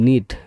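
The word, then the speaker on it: knit: কে এন আইটি নেট। এন আইটি। নেট মানে নেট মানে বোনা। মানে এখানে কে হচ্ছে সাইলেন্ট লেটার।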